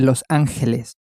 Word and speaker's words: Los Ángeles: Los Angeles was, of course, a Spanish city, so the name is Spanish and is the same as Spanish, but it's pronounced slightly differently.